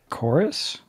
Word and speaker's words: Chorus: i think it i guess it's chorus it's a u not a v um okay h o r u s so chorus yeah chorus i guess yeah i guess that's how you say it of course uh but